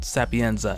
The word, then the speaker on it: Sapienza: detective Sapienza which I'm pretty sure is Italian Sapienza and not Greek Sophia cuz they're both pretty much spelled the same way and we he discovers